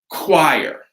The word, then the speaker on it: choir: Things like that will all be more Greek words that we borrow from in English, like choir, right?